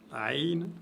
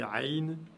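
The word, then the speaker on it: عين: Donc, la lettre Ha et la lettre Aïn se prononcent au niveau de la pomme d'Adam.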